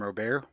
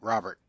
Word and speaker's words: Robert: when I watch YouTube they pronounce his name robear but when I watched the MLB Network they pronounced Robert Lewis Robert which I assume sure I